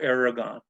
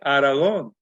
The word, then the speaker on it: Aragon: and I know that sometimes some of those people that are Spanish descent, they say, well, you're mispronouncing your last name. You're supposed to say it Aragon. And I said, well, that was given to us by the Spanish way back in the 1500s.